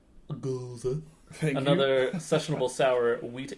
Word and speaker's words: Gose: Gose.